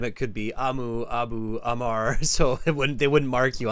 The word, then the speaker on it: Amr: Amu. Hmm. A-M-R. A-M-R. I'm sorry, I didn't pronounce the name right. I'm sorry. Amu, A-M-U, No, R, R. A-M-R. A-M-R, Amar.